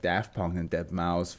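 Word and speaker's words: deadmau5: like da Punk and dead mouse F Dead Mouse I was about to say dead mouse 5 I be like whoa no that's not how you say it I get it does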